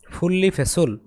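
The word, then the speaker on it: 분리배출: শব্দকোষ এক ছুরিগি ময়লা ফুল্লি ফেসুল পৃথক করে ফালানো এর উচ্চারণ হবে ফুললি ফেসুল এই নিউনের উচ্চারণ হবে ল ফুললি ফেসুল অর্থাৎ পৃথক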